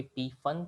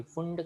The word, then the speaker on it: Pfund: Fast नहीं है, वैसे उसका स्पेलिंग है PFUND, जिसको बोलने के काफ़ी सारे तरीके हैं। कोई पी फन कहता है, कोई फुंड कहता है, कोई पी फंड कहता है, कोई सिर्फ फन कहता है, कोई पी साइलेंट कहता है, कोई पी को साउंड कहता है।